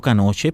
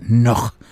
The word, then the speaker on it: Knoche: que era el doctor, popularmente llamado Canoche, pero se pronuncia Noj, el doctor Noj.